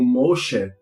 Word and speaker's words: Moshe: Então, o mais interessante, Moisés vai estar como Moshe.